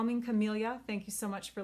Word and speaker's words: Camellia: it's a host only stamp set call me camilla thank you so much for letting me know the pronunciation of that last week um calming camellia